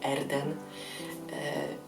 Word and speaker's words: Erden: się tak jak mówi wymawia się tak jak się pisze Czyli erden nie jest jakieś dziwne